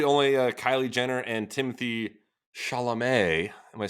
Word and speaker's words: Chalamet: It was literally only Kylie Jenner and Timothy Chalamet. Am I saying that right this time? I do believe a much better pronunciation that time than Chalamet.